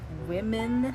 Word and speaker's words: women: always pronounced it wrong it just sounds like woman except like women you have to make like the o a bit more e sounding and i've just not done that so i'm trying to